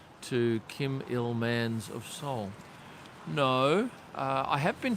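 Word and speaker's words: Seoul: yeah big fan of soul and that's how you say it's all it's two syllables man Pango there you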